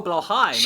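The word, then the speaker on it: Blåhaj: Oh, Blowhigh, my best friend. She's It's trans, pronounced right?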